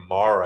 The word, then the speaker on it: Mara: wanting to call her Mara. It's Mara, like marinara, but I keep wanting to say Mara, like Mari.